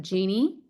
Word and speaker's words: Jeannie: Yes, it's Jeannie, like in a bottle.